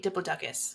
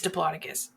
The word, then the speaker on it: Diplodocus: Unless you say Diplodocus, because that is fucking wrong. It's Diplodocus. Thank you. I will say it how I want, which is Diplodocus. Diplodocus.